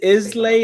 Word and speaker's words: Islay: All right, so I'm gonna say So- Islay. Is that how you say it? Isla. Isla. Isla.